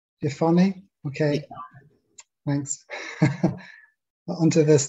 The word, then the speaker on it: Jephunneh: Pronounced Jephunneh. Jephunneh, okay.